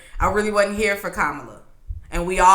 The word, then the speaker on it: Kamala: And then he pronounced her name wrong. Calling her Kamala. No, what he called her? Kamala. Get it right. Kamala.